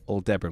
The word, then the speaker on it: Aldebaran: Aldebaran Yeah, whiskey. that's how you pronounce it.